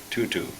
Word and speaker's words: Tutu: goodness by Desmond and we learned how to pronounce her name tutu so uh so come join us for that